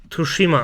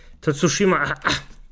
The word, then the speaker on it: Tsushima: title named ghost of toshima oh for sake I actually butchered the name tsushima wait wait wait give